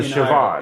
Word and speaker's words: Siobhan: So if it's like BH or something like that, it's pronounced with a V? as a V sound. Oh. So Siobhan.